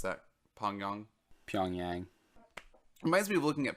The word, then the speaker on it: Pyongyang: How do you pronounce that? Pyongyang? Pyongyang.